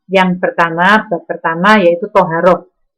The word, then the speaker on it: taharah: Nah, di dalam fikih tadi dibahas tentang bab yang berhubungan dengan ibadah kita, yaitu yang pertama, bab pertama yaitu toharoh. Anak-anak tulisannya taharah, membacanya adalah toharoh.